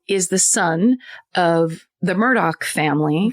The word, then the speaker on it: Murdaugh: The Murdaugh family? Yes. Murdaughs? Yes. Murdaugh. It's pronounced Murdoch, I learned.